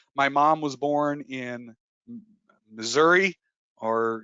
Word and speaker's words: Missouri: mom was born in missouri or if you want to pronounce it right missouri it's the show me